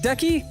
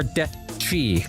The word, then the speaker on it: Decky: Is it Decky or Dechi? Like the cha? Just so I know I'm pronouncing it right.